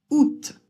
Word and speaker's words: août: Et le t à la fin, là aussi c'est une exception. Il va falloir le prononcer alors que normalement en français, on a tendance à ne pas prononcer les consonnes à la fin d'un mot.